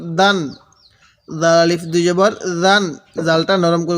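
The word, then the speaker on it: دًا: দাল আলিফ দুই জবর দান দালটা একটু শক্ত করে উচ্চারণ করব দাল আলিফ দুই জবর দান দাল আলিফ দুই জবর দান দালটা নরম করে উচ্চারণ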